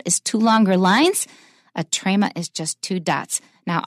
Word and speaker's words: trema: It has two special names, and they are trema, T-R-E-M-A. T-R-E-M-A, trema. Trema means that we pronounce it as a separate syllable.